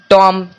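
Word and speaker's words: tomb: मतलब होता है समाधि देखिए यहां पे एम दिख रहा है उसके बाद बी दिख रहा है तो यहां पे बी का कोई भी उच्चारण नहीं हुआ है एल ए एम बी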